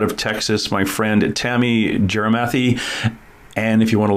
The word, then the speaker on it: Gyarmathy: texas my friend tammy jerimathy and if you want to look up jeremathy it's actually g-y-a-r-mathy like gyromathy but it's pronounced jeremathy i'm to call her